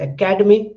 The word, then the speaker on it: academy: So you can sense that when I say academic, the da is more stressed, and when I say academy, ka is more stressed.